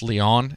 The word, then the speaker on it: Lyon: The majority of the horrific attacks have taken place in the French countryside near, I think it's pronounced Lyon. It's spelled Lyon, like lion.